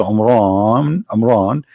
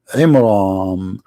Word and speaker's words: Amram: became the daughter of Amran, which is the father of Moses, and Muhammad even pronounced the name wrong, because it's not Amran, it is Imram, which means the last letter is M, not N.